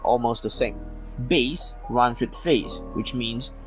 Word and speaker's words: bass: spelt almost the same bass runs with phase which means a low voice in the harmony bass rhymes with mass a species of fish minute runs